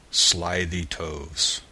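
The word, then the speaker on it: slithy toves: that has often been asked me how to pronounce slyy toes the eye in slyy is long as in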